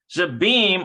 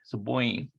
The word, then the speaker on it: Zeboim: Zabim or Zeboim, depending on how it's pronounced. Actually, this is a bet and a yod here, so it's a diphthong. So it'd be oi, Zeboim.